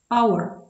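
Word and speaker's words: hour: Не вимовляється звук Х На початку слова винятки. Our. Honest. Honor.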